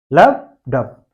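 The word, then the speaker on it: lub dub: ये स्पेलिंग थोड़ा सा मैच करा लीजिएगा, लेकिन प्रोनाउंसिएशन ठीक है ना, लब एंड डप, लब डप, लब डप, लब डप।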